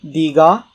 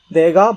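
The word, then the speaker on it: 니가: I know it looks like dega, but it's pronounced diga. The reason for that is if you look at this guy right here, this is pronounced dega, which is I. This means you, and it would also be pronounced dega if we read it the way it's written. But to differentiate between I and you, this is read as diga.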